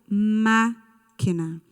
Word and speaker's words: máquina: Muito bem, máquina. Ela é a última sílaba, a penúltima ou a antepenúltima?